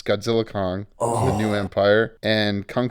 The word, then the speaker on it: Godzilla x Kong: Godzilla X Kong, you don't pronounce the X, it's Godzilla Kong, The New Empire, and Kung Fu Panda 4, both movies I've purchased for my children.